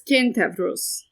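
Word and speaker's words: Κένταυρος: If you want the actual pronunciation of the Greek word for centaur, it's Kentavros.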